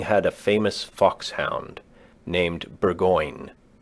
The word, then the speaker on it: Burgoyne: Nutting had a famous foxhound named Burgoyne. He pronounced it Bogeen, which my informant used to borrow.